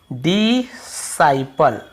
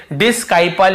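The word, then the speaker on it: disciple: इसे हम क्या पढ़ते हैं? डिसाइपल, ठीक है, ऐसे डिसाइपल, डिसाइपल पढ़ते हैं। अब यहां पे आप देखेंगे, यहां पर भी आपको सी का उच्चारण नहीं, डिसाइपल, क्योंकि आई को हम आई पढ़ रहे हैं, डिसाइपल ऐसे पढ़ रहे हैं, ठीक है। यहां पे भी हम इसे डिस्काइपल या डिसाइपल ऐसे नहीं पढ़, केवल डिसाइपल पढ़ रहे हैं।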